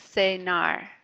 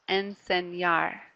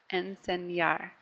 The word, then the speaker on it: enseñar: again the anyway here so it's like we're putting a why right after that so here's what it sounds like if I didn't make that Y sound it would sound like this and Sena and Sena and that's actually a different verb okay and say NAR when we put the wine in it sounds like this enseñar enseñar yeah yeah kind